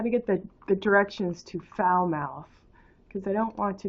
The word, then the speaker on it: Falmouth: care at the Falmouth foul-mouthed Walmart so there's a place in Maine called foul mouth it's spelled FAL MOU th like FA ll but it's pronounced foul as in you know not good foul mouth so we